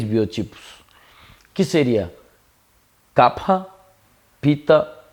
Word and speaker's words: Kapha: Aportuguesando normalmente se chama de Kapha ou Kapha, tá? Mas a pronúncia correta dentro do sânscrito seria Kapha, né?